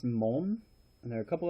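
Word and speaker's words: 門: part one all right those are gates it's pronounced Mon and there are a couple other pronunciations mom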